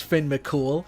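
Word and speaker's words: Fionn mac Cumhaill: Specifically, the pronunciation of their names. Like, I had no idea his name was Finn Mcool. His name sounds way more awesome.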